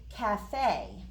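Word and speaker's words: café: going to spell it looks like cafe doesn't it but it's really cafe because it's a kind of a french word and that's a place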